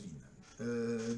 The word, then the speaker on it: Wien: Bonjour, alors aujourd'hui une vidéo sur la loi de Wien. Alors Wien, pour les gens qui parlent allemand, W-I-E, et ceux qui ne parlent pas allemand non plus. Mais bon, ça se prononce Wien.